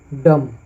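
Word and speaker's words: dumb: इसको हम नम पढ़ेंगे डी यू एम बी डम उसी प्रकार है नीचे सबसे हम लोग बारबार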